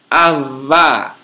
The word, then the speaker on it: avá: Pronuncia-se como o V do castelhano em huevo. É um B fricativo e não oclusivo. Isto é, para pronunciá-lo, os lábios não se fecham, apenas friccionam-se. Sua representação no alfabeto fonético internacional é a letra grega beta minúscula. Como em avá, homem, uvra, árvore, e tová, rosto.